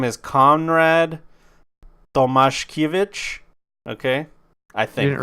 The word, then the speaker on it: Tomaszkiewicz: I would go with Tomaszkiewicz. No, their S's. Their S's are SH. There's no Vitch in there. W's are pronounced with the V.